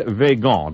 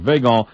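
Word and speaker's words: Weygand: men like petan and veon w y g n d instead of concentrating or it might be won I'm not sure but uh I'm going to pronounce it veon instead of concentrating on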